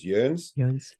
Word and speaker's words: Joens: So German J is pronounced like a Y, and the OE is actually like an O with 2 dots over the top of it. So the actual German pronunciation is Joens.